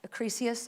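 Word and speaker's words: Acrisius: It's based on the myth of uh King uh Acres, I think is how you say it.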